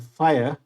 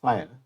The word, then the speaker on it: FHIR: related data standards and fire we call it even though this is fhir we pronounce it as fire it is one of